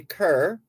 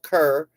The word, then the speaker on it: Kerr: car some people say Kerr but I went to school with a car k-e-r-r same spelling but different pronunciations I'm talking about Roger